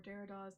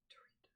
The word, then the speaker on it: Derrida: It came in the pages of the New Musical Express in the 1980s, where Derrida's name would be mentioned by the most exciting writers, and actually part of my frustration with Derrida's work came out of disappointment.